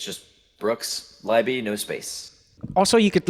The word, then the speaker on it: Brooks Leiby: We have a wonderful guest here today, and his name is Brooks Leiby.